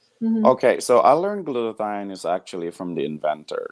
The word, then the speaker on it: glutathione: And I want you to tell me more about glutathione.